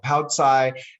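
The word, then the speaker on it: paocai: them with a meal i spell it p-a-o and then i use a hyphen c-a-i poutsai and um in the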